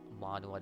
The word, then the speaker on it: manhwa: have plans for you guys the next like manhwa that I will be putting out.